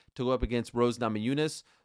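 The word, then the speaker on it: Namajunas: go up against Rose Namayunes. Uh, or as Dana White called her in his IG live, Rose Namajunis. Blows my mind that after all these years, multiple runs as champions as champion, he still mispronounces her name.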